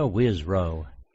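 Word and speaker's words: Wisrough: Wisrow.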